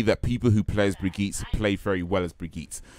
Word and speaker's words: Brigitte: Yeah, Brigitte. So I feel that's pronounced Brigitte and not Bridget.